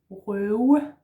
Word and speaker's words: røve: Last word is røve. Røve. R in the throat, slashed O, broken O, and then this w sound again, yeah?